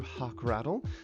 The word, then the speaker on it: Hockrattle: Again, my name is Hockrattle. Yes, pronounced like a hawk and a rattle right up there.